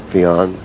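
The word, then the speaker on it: Feijen: Duels continuing on his charge against Fiejen. I believe that's the correct pronunciation, Fiejen.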